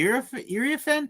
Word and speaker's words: Iriafen: Kiki Iriafen Mm-hmm.